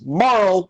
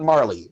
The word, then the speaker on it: Marle: It's Marl, not Marley. Okay, anyway. Okay, they pronounce a lot of stuff weird in this game.